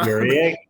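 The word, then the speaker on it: Guerrier: paint last year they bring him back Quincy gerer I is that how you pronounce it FR gerer like FR G exactly you got frce Canadian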